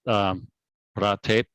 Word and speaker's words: Phrathep: And the last name is that Phrathep, like Boom Tape, like the city Bangkok.